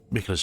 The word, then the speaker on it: Miquella: addressed to Kindred Spirits who also pursue M micha's Trail M that's how it reads to me I know it's pronounced Micha but I was just see M